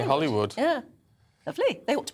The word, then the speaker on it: Holywood: I didn't because it because Dougie was saying holywood but actually the locals say Hollywood yeah lovely they ought